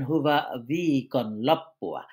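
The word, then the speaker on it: hyvää viikonloppua: এই দেখুন হুবা ভিকন লপ্পুআ মানে এই যে প্রত্যেকটা বর্ণ বলে, বলে উচ্চারণ করা এটাই কিন্তু ফিনিশ ভাষার সৌন্দর্য এবং ছন্দ।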